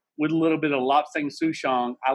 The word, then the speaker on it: Lapsang souchong: With a little bit of Lobsang Souchong, I like making my own tea. Yeah. Yeah. I love Kanye. He just makes And me happy. lapsang is actually it's a wonderful tea.